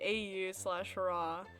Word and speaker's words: Au/Ra: Anyways, it was originally an animation made in 2018 to the Panic Room song by AU/Ra. It is pronounced Aura, and it's now lost media because I deleted it like 10 million years ago.